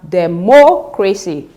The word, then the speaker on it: democracy: Now, in the option C, we have democracy, which means that we have stressed the antepenultimate syllable, that is the third syllable from the end, which means this is the correct answer.